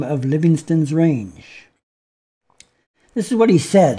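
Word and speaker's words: Livingstone: also named the mountains the livingston mountains not living stone as we seem to pronounce it now but livingston as david livingston and you can see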